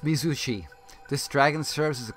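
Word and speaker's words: Mizuchi: Pronounced Mizushi.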